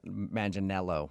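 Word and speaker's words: Manganiello: Uh, because we talked to him and he told us that a lot of people say he looks like Joe Manel Maninello, right?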